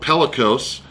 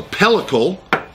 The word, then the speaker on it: pellicle: I didn't learn the right way to pronounce it on Guga's channel, and I was corrected by a viewer and ended up looking it up. So pellicle is, I believe, the correct pronunciation.